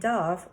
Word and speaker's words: dove: called a dog and dove rhymes with love nobody wrote about hamsters